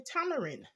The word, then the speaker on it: tamarind: I didn't taste any tamarind we said tambourine ball we mispronounce it as kids and you know just the Jamaican dialect I would say tambourine Ball but it's Tamarind ball there it is there's